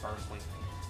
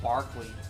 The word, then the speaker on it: Berkeley: So, and it started off with with B uh or Barkley, that's how you say it. Sometimes I do Berkeley. uh started off with Barkley and he started it